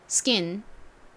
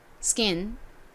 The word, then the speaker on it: skin: 자 피부 발음해 볼게요 skin skin 좋습니다 S 바로 뒤에가 와서 스킨 이렇게 크 소리가 나는게 아니라 조금 된 소리처럼 세게 발음이 났어요 스킨 이렇게요 이번에는 토도